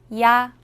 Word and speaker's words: 야: 야. 야는 먼저 이를 소리 내다가 바로 이어서 아를 소리 내며 발음합니다. 이와 아를 순서대로 빠르게 말해요.